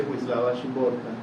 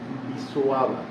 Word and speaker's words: Szymborska: me dijo que que no se dice shimborta, sino que se dice visuaba.